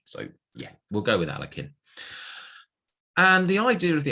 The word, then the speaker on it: Alekhine: first comment on pronunciation i've heard this name pronounced in about 10 million different ways uh aliyekin alekhine alakin alakine whatever i'm just going to call him alakin because whatever let's keep it simple um and you know